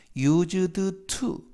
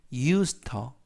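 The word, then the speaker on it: used to: 매일 but i ng 이때도 발음에 유의 하실 것은 유즈드 투 라고 발음하지 않고 요 붙여서 발음이 돼서 이 우스터 이 우스터 미이 우스터 이렇게 발음 하시면 편하게 씁니다 그리고 투가 전치사 이기 때문에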